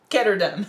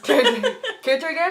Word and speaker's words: Ketterdam: Now we're switching to Ketterdam. Ketterdam or Ketterdam? Ketterdam. Ketterdam. It's like Amsterdam.